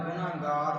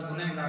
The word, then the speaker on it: ਗੁਨਹਗਾਰੁ: पातशाह जी ने पहली पंक्ति दे विच फरमाया पढ़िया होवे गुनाहगार तां उमी साधन मारी है। लफ्ज़ां वाल ध्यान करिया जे, गुनाहगार, कई बार असीं गुनहगार पढ़ जाते हैं, नहीं, उच्चारण होवेगा गुनाहगार भाव जिसने कोई गुनाह किया होवे, मंद कर्म किया होवे।